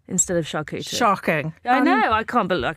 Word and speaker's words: charcuterie: Charcuterie, which is often said with a hard C instead of charcuterie.